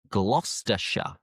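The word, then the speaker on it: Gloucestershire: England end in shia but the shy is pronounced as sha. For example, Worersha, Worersha, Glostershure, Glostershure, Leersha, Leersha, Hertfordshire,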